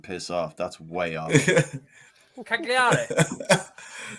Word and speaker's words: Cagliari: Cagliari. Yeah. You don't pronounce the letters as you see them.